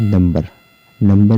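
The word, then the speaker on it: number: तो इसमें देखते हैं, जैसे कि नंबर में भी क्या है कि एम के बाद बी आया हुआ है, लेकिन यहाँ पर बी साइलेंट नहीं है, यहाँ बी को पढ़ा जा रहा है।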